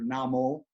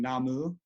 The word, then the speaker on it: Namu: respect to upholding so in most Buddhist traditions in Chinese you hear Namo the Japanese pronunciation being namu uh the idea in